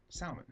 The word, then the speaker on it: salmon: Salmon. How do you Salmon? say that? How do you say it? Salmon. L silent.